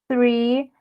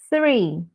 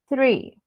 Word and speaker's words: three: no two okay three three pay attention to your tongue okay into your teeth all right three three okay it's not three